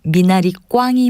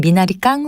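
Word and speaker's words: 미나리꽝: 맞는 표현 어느 곳일까요 미나리를 심는 놓을 듯한 표현은 미나리 꽝이 맞습니다 발음을 편하게 하는 미나리 깡 으로 잘못 알고 사용하는 일이 적지 않은데요 미나리 꽝이 올바른 표현입니다 또 죽 쌀이 치다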